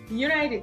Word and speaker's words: United: Aquí podemos ver que la palabra United empieza con una vocal, pero la pronunciamos como una consonante en el principio, es decir, united, ¿sí?